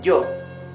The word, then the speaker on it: yo: here, for example, look, this is yo. You see, it's a different sound. It's not E, it's J. J. It's yo.